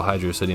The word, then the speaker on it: Hydrocity: sometimes there isn't and fans like to argue on what the zone's proper pronunciation is i personally fall on the side thinking that hydro city is the proper way to address this zone i guess hydrocity it sounds cooler but it's a water